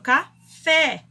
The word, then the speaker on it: café: Por exemplo, café. Qual que é a sílaba mais forte? O fé. Então, o E, aí é a sílaba tônica, fé.